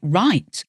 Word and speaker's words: write: Words like write, writ, so that has a silent W, or psychology, which sounds like it should begin with an S, but actually begins with a P.